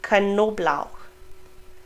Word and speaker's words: Knoblauch: So unlike in English, where we would probably have a silent K, German pronounces both of them. Kn, Knochen, Knoblauch, Knote. We pronounce the K and the N.